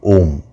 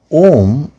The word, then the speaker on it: Om: part very interesting now om basically contains uh three syllables ah oo and um so ah and ooh when they join in uh the samskritam language the grammar it becomes o so ah um put together is o so even though according